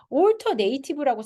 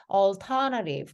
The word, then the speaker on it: alternative: 그런데 얘는 alter랑 그다음에 native랑 섞이잖아요. 그래서 얘는 alternative, 그러니까 미국식 alternative 이렇게 발음이 될 거고 영국식은 alternative. 그래서 둘 다 어쨌건 약화돼서 A라고 발음되지 않는다.